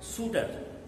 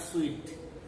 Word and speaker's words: suit: And in this story, Suitor and Papa, you see, the first word is suitor. The word suitor, it has come from the word suit. S-U-I-T, it's pronounced as suit, not sweet.